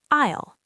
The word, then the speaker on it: I'll: We need to say "I'll". And the pronunciation of "I'll" is something a lot of learners struggle with. They try to say the letter I and then a hard L.